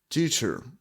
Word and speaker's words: teacher: I like this exercises Подивіться уважно на слово вчитель ми майже не промовляємо останню букву а teacher До речі в англійській